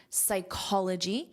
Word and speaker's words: psychology: The same pronunciation rule applies to the noun, psychology.